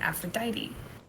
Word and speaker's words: Aphrodite: Like Aphrodite. They pronounce the E.